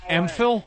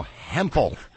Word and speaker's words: Hempel: Shirley Hempel, the H is silent. It's not silent, you homo. Her name is Emphil? No, Hempel.